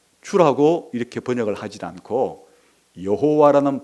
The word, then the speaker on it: 여호와: 여호와라는 것은 원래 발음이 아니고 발음은 무슨 모음 부호를 가지고 왔다고요? 아도나이를 읽었기 때문에 아도나이의 모음을 가지고 원래 자음에다가 그렇게 붙여서 발음한 것이 여호와니까, 이게 이제 거의 16세기 때부터 이런 일을 이제 했어요.